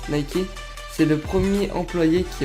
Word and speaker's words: Nike: de la DS grec de la victoire se prononce nikey c'est le premier employé